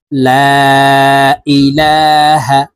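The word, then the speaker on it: لا إله: দেখুন, এই যে লামের উপরে চিকন চিহ্ন আছে, মূলত মদের হরফের উপরে চিকন চিহ্ন বামে হামজা হইলে মধ্যে মুনফাসিল তিন আলিফ টানিয়া পড়িতে হয়।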